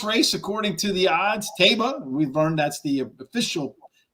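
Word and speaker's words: Taiba: Taba, we've learned that's the official pronunciation, and Jack Christopher.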